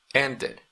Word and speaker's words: ended: Si usted se fija, cuando termine en una D, usted pronuncia D al final. Ended, ended. No es como el demás, que por ejemplo aquí decíamos danced, danced. No decimos danced, danced. Pero aquí, como termina en